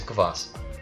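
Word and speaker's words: квас: Eu tava confuso sobre esse K, porque o K no inglês ele geralmente é mudo e aí eu já vi, e agora? Uhum. No russo ele vai ter o som. E agora? Ele vai ter o somzinho mesmo.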